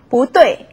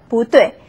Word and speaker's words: 不对: 不对. 자, 4성이니까 2성으로 바뀌었죠. 不对.